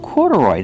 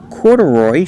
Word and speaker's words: corduroy: Corduroy, that's right. These are corduroy shorts. Pronunciation, corduroy. Put the stress on the first and third syllable.